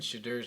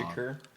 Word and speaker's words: Shedeur: Shakur? Is that how you say it? Shadur. Shadur. Yeah.